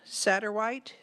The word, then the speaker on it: Satterwhite: Next, I have Kristen Satterwhite. Did I pronounce that correctly?